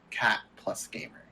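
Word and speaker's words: Cat + Gamer: And I did find out at Anime Boston that yes, you are supposed to pronounce the plus. It's not like Hunter x Hunter or Spy Family. It's supposed to be named Cat Plus Gamer.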